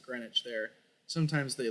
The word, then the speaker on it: Greenwich: make a play towards Greenwich or green witch I'm pretty sure they pronounce it grenwich there sometimes they like